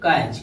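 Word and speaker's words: catch: जैसे सी ए टी सी एच यानी इसको क्या पढ़ेंगे कैच, कैच टी को साइलेंट रखेंगे।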